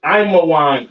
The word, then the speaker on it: Ammon: Ammon, all right, Ammon, which is Imawan in the Hebrew.